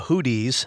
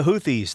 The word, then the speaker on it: Houthis: are a movement and thank you for correcting my pronunciation not the hoodies that's an old rock band hoodie and the Blowfish the houthis they're a movement a